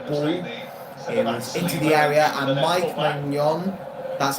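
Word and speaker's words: Maignan: And Mike Mon, that's how you pronounce his name by the way.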